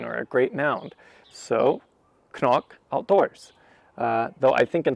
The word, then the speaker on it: CNOC: trivia here i think i finally pronounced this correctly for the first time knock i looked it up i think it's irish might be scottish but i think it's